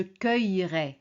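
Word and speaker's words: cueillerai: Donc, au lieu de dire je cueillirai, bon à l'oral, on peut même pas l'entendre. On dit "Je cueillrai."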